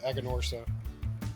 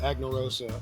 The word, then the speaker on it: Aganorsa: time we we were're talking about the aganorsa I called it annarosa on the when I was saying hey what we're smoking next is the a annarosa so from that point on I learned how to say their name that's okay as much